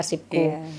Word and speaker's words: Arsipkoe: Kali ini kita ngobrol tentang inovasinya Bu Imel yang diberi judul Podcast Arsipku atau Arsipkoe ya, tapi kita bacanya Arsipku.